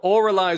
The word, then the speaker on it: Avralize: viewing this with the name we're going so oraly would be the preferred pronunciation right but are you at a point